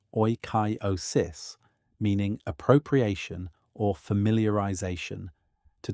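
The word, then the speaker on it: oikeiosis: The Stoics used the concept of oyosis, pronounced roughly as oyosis, meaning appropriation or familiarization,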